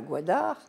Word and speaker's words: Gwadar: que la Chine n'arrive pas à s'installer à Gwadar. Ça s'écrit G-W-A-D-A-R.